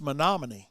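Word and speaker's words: Menomonee: is really not hard, but it was Monomin Falls. And when you look at it spelled out, it's about 73 letters, you know, and it's but it's Monomony Falls.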